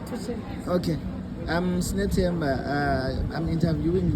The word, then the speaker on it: Tutsheni: I'm here with Simamkele, the special star Tutsheni. Am I pronouncing the surname correctly? Yeah, it's correct. Tutsheni.